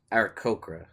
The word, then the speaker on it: Aarakocra: But I'm going to go with, I think it's Aarakocra is the correct pronunciation.